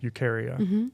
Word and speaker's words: Eukarya: ahead and let's get back to the name ukaria yeah I'm pronouncing it right yeah there's other names but